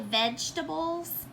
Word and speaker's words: vegetables: So we say vegetables in Texas without hearing this E here.